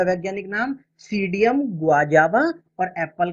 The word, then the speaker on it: Psidium: तो यहाँ हमसे पूछा गया है अमरूद का वैज्ञानिक नाम, जो कि होता है सीडियम गुआजावा। सीडियम गुआजावा, मैं यहाँ लिख देता हूँ, यहाँ P साइलेंट होगा। सीडियम PSIDIUM, सीडियम गुआजावा।